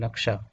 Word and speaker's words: নকশা: নকশা না উচ্চারণ কি, NAKSHA, নকশা।